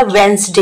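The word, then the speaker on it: Wednesday: तो बहुत सारे बच्चों को तो पता होगा, वेंसडे हम कब से पढ़ते हुए आ रहे हैं, मैंने इसे क्या बोला, वेंसडे। यहाँ पर डी साइलेंट है तो आप डी को निकालकर इसके सामने ऐसा डी लिख दीजिएगा।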